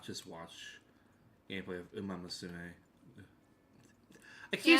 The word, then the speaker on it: Umamusume: For context, at the Game Awards, Sidney Goodman, when revealing the award for Best Mobile Game, she kept fucking mispronouncing it as Uma Musume. Which is, It's Umamusume.